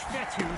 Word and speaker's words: Fetu: So Coach Fetu, spelled F-E-T-U, for the longest time I was pronouncing it Coach Feta.